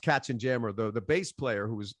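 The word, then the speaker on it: Katzenjammer: in a band called Cats and Yama, or like the Cats and Jammer kids. Yeah, they were pronounced Cats and Jammer.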